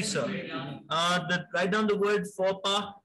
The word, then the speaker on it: faux pas: Write down the word faux pas. F-A-U-X-P-A-S. It's a social disorder. F-A-U-X-P-A-S. आपके foreign phrases का part है, sir. The pronunciation will be faux pas. The S is silent, X is silent.